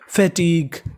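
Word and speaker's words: fatigue: इस वाली मीनिंग के आखिरी में लिखा है UE। अगर आपको इंग्लिश की किसी भी मीनिंग के आखिरी में UE लिखा मिले तो उसका उच्चारण हमें नहीं करना, हमें खाली उच्चारण केवल उससे पहले तक का करना है।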